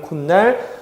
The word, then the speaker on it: 콧날: 자, 그 다음에 코 더하기 날인데요. 이것도 코의 날이기 때문에 이런 식의 형태가 등장을 하죠. 자, 그런데 역시 시옷이 그냥 발음될 수 없기 때문에 디귿으로 바뀌는데요. 자, 이때는요, 디귿 뒤에 니은이 나와 있기 때문에 비음하의 조건이 해당이 됩니다. 그래서 비음하 때문에 코, 니은, 날이 되고 발음은 콧날, 표기는 시옷을 살려줘요.